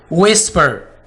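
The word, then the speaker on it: whisper: विस्पर, विस्पर, विच, एच से पहले डब्ल्यू आ गया।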